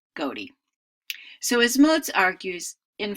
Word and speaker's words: ghoti: So GHOTI really would not be pronounced fish, but rather goatee.